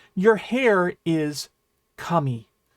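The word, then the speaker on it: 髪: All right, your hair is kami. Kami is another interesting word because hair, gods, and paper are all pronounced kami.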